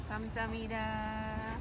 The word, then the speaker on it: 감사합니다: 감사합니다.